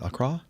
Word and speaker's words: Accra: Sierra Sierra x-ray mic performing flight 9053 from Accra or Acra how do you say that Accra okay Ghana to Johannesburg South Africa with 184